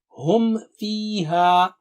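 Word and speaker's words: هم فيها: Similarly, hum fiha. If you are not careful, it will be hum fi. So Mim will not be pronounced properly. So repeat, hum fiha.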